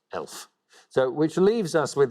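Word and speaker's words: e.l.f.: is short for eyes lips face and is pronounced elf so which leaves us with the pointless answer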